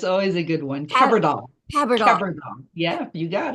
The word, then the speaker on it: Kebrdle: name again yeah it's always a good one card doll CLL CLL yeah you got it okay we